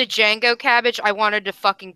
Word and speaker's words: Django: Every time you said Django, Cabbage, I wanted to fucking punch something. The D Django. is silent.